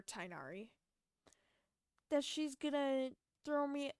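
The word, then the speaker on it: Tighnari: Feruzan tell Master Tagnari, technically his name is spelt Tignari, or said Tignari, but I just prefer Tainari, that she's gonna throw me a surprise birthday party.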